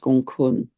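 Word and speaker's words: Gonggong: And that also links, I'm going to talk about another dwarf planet which links right now, which is Gong Kun, spelt Gong Gong, but pronounced Gong Kun.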